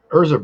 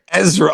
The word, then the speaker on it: Ezra: Like I had Urza Bridger in relics. It was my first Phoenix relic, and that was years. Did you say Urza Bridger? Ezra. Oh my god, what is it with your pronunciation today?